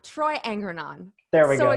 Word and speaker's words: Angrignon: It's Angrignon. Angrignon. Troy Angrignon. There we go. The second G is silent.